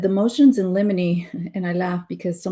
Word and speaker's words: limine: But yeah, it's pronounced limine, motions in limine.